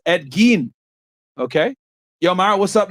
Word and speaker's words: Ed Gein: and keep up the good work also it's pronounced Ed Gein okay yo Mario what's up now paying Charleston